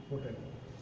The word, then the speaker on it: hotel: অর কারণে এখানে হবে এন, কিন্তু দিস ইজ HOTEL, হোটেল। তাহলে এখানে এইচ এর উচ্চারণ দেখা যাচ্ছে হ, হোটেল।